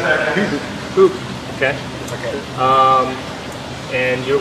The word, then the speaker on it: Huub: So if you really pronounce it right, you say Huub.